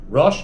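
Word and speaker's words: רש: Now, the word rush does not mean head. That's rush. Rash means poor. It's usually spelled without an alf. Here it has an alf, but it's usually spelled without an alf. I don't know why. I mean, I suppose it's trying to hint to the word head, right? But as a head, it would be rush.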